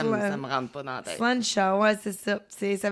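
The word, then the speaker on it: Sláinte: Donc on peut vraiment le dire en trinquant comme je dis mais on le prononce vraiment sluncha.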